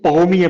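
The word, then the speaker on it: premier: सामने वो प्रीमियर लिखें तो इसको पहोमिये पड़ेगा, पहोमिये। और वो लोग आखिरी 99% उनके वर्ड्स में ना आखिरी जो लेटर होता है वो साइलेंट होता है। तो ये प्रीमियर है, जो इसका आखिरी वर्ड आर है वो साइलेंट होगा, ठीक है। तो जो इसकी फ्रेंच में प्रोनाउंसिएशन बनेगी वो बनेगी पगोमिये, ठीक है।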